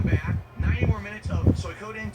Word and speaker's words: Suikoden: It's Suikoden. Yeah, Suikoden. It's Suikoden. That's how you say it.